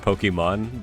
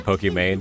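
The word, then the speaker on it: Pokimane: the with pokem man I think it's supposed to be like pronounced Pokemon but you know the way it looks people just said pokem man so that just became her name I don't know that's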